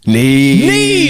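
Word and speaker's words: Niamh: on there was someone on radio this this neemo close ne ne yes come on I get one bing there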